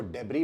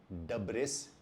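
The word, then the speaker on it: debris: हम इसको डेब्री बोल सकते हैं, डबरी बोल सकते हैं या डेब्री बोल सकते हैं, लेकिन डब्रिस नहीं या डेब्रिस नहीं। मैंने जब ये पहली बार शब्द बोला था कॉलेज में तो मैंने इसको डेब्रिस बोला था, लेकिन मेरे एक मित्र ने इसको ठीक किया और मैं उस मित्र को आज भी याद करता हूं। And from then on I been pronouncing it एज डबरी।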